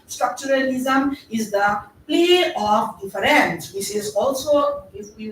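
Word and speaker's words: différance: But what he add to the structuralism is the play of difference, which is also, if we want to make verbally sound different, it is also sometimes we pronounce it as difference, D-I-F-F-E-R-A-N-C-E.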